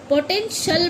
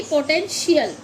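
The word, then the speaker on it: potential: भी देखेंगे, किसी पे भी देखिए, इसको हम पोटेंशियल पढ़ते हैं, ना कि पोटेंशियल।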